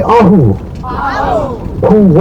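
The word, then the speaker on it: ahupuaʻa: of three different valleys or land subdivisions called auu Pua can everyone say AO a pu all right good good guys are way smart and good in the pronunciation so cool was established back in 1850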